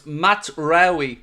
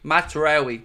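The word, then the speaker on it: Mazraoui: Ah, so Connor's helped me with my pronunciation, so it's Matraoui. Matraoui, there we go.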